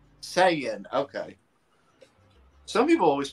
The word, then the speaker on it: Saiyan: I'm just saying man yeah that's how you pronounce it Sayan that's what just said I'm making sure that was what he was saying Sayan okay some people always pronounce like Sean or sayen I got this pre-ordered so but most people